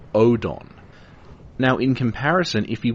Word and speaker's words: Oedon: in Japanese like this now read phonetically that's not erdon it's Odon now in comparison if